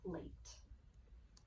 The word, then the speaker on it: plate: But in order for this to say A, I need to have that silent E or that bossy E at the end. That gives me the word plate.